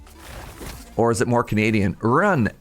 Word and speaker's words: Rune: Run can be a name in Swedish as well. Pronounced Rooney. How was my Swedish? Rooney. Or is it more Canadian? Run.